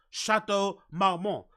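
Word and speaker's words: Chateau Marmont: in Hollywood circles you should know how to pronounce shat MMO because it's a very iconic and famous hotel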